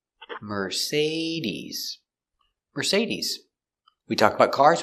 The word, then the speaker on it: Mercedes: Our next car is Mercedes. Say, we pronounce the second syllable. Say. Mercedes.